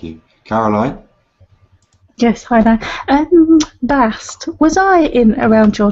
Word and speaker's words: Bast: Bast. That is the feminine pronunciation.